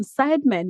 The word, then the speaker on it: Seidman: Am I pronouncing your surname correctly again? Sideman, you said Sideman. Yeah, that's right.